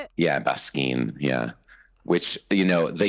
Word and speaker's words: Baskin: Basin.